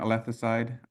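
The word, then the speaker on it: alethocide: and uh you know I'm pronouncing it althas side just as I'm not Greek but it comes from the Greek althia meaning truth and and the Latin you know suffix side meaning killing um and I deliberately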